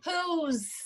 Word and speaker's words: whose: É outra coisa daí, é com H-O-W-H-O-S-E. Whose. Com S-E. Por exemplo, Isso. de quem? Whose. De quem é esse telefone, né? O E fica mudo. Sim. Whose. Ele não tem a pronúncia desse E do final.